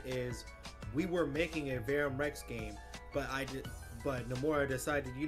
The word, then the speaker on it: Verum Rex: People tend to say Verum Rex with the short U like Verum, but the dev team actually pronounces it with the long U like Verum. Okay. Not saying it like that. Verum Rex.